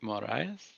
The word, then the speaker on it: Moraes: Morales without the L. Yeah. Moraes.